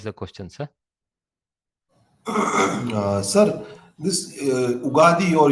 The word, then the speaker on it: Ugadi: In the south, we make it Ugadi. We drop the Y and call it Ugadi, Ugadi.